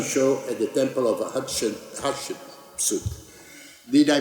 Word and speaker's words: Hatshepsut: I remember my fashion show at the Temple of Hatshepsut. Did I pronounce properly, Zahi? Hatshepsut, yes.